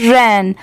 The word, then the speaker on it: ran: ये है रैन, RAN रैन। अब देखिए बहुत सारे लोग इसमें RUN और RAN इन दोनों प्रोनाउंसिएशन में बहुत कंफ्यूज होते हैं। तो देखिए RUN इसे हम पढ़ेंगे रन।